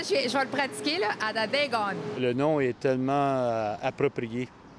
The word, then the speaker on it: Atateken: Dans la langue mohawk, prononcée Adadegon, qui signifie frère et sœur.